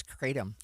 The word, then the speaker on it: Kratom: I'm shaking my head at you because we asked for pronunciation because I didn't know either, but I've been told it's Kratom.